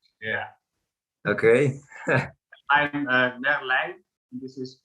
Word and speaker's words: Merlijn: The Dutch pronunciation is? Yes. Yeah. Is that right? Yeah. Okay. I'm Merlijn.